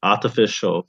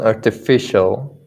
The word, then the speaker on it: artificial: this one artificial not artificial how would you guys pronounce it i guess it's you're right let's see this artificial yeah yeah yeah the the primary stress is like on facial or the facial yeah thank you okay